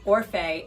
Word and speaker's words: Orfeh: And I remember having to say Orfeh, and then I put a pronunciation key right after my name, O-R-F-A-Y.